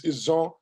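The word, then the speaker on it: Izon: Actually, the way we, the native speakers, will spell it is I-Z-O-N, is Zon. But when the British colonialists came, they spelled it as I-J-A-W, which was a mistake because we don't really have a J in our orthography, so it's Zon.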